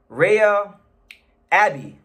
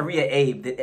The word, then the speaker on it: Reiya Abe: against Japan's very own Rhea Abby you know cuz I I I said Ria Abe all the Japanese people were saying oh you pronouncing his name wrong I might still be